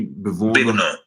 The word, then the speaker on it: bevono: Gli uomini bevono. Oh, that's a strange stress pattern. Bevono. Stress on the last syllable.